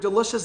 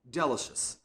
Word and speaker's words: delicious: And I pronounced the word delicious this way, delicious, delicious. I didn't stress the second syllable like this, delicious.